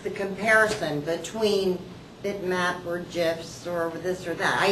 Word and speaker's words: GIF: how do I pronounce .gif? And the fellow who developed that format has a little audio that says, oh yes, it is GIF.